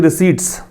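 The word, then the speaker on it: receipt: द 2 highest GST monthly रिसीट्स, इसका जो pronunciation होगा वो रिसीट होता है, हालांकि पी इसमें दे रखा है लेकिन रिसिप्ट नहीं पढ़ना है, पै का उच्चारण नहीं होता है, रिसीट।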